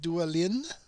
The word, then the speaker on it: Duin: do again son of duin CU I know that's not dwan because dwan is spelled DW well of course since this